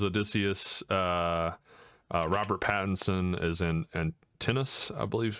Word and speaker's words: Antinous: Robert Pattinson is in Antinous, I believe is how it's pronounced.